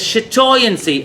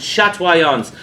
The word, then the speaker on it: chatoyance: The word for that is chatoyancy or chatoyance. The French pronounce it chatoyance. It derives from two French words.